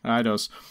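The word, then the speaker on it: Eidos: in north america and europe and published by edos yeah i know how to pronounce it okay idose uh and this was also exclusively for the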